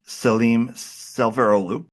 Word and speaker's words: Selim Selveroğlu: So our guest today is named Salem Sverolu. Uh Salem Salem, did I pronounce that correctly?